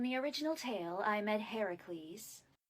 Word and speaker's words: Heracles: Well, in the original tale, I met Heracles. Heracles. Hudes. Heracles. Why are you saying it's so weird? I thought it was Hercules. Well, actually, in most translations of the story, it's pronounced Heracles.